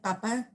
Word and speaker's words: papa: in Spanish, just because some words can be, whether it has an accent or not, it'll be pronounced differently. So like papa, like dad, father, is like with an accent, and then like papa, like it's potato.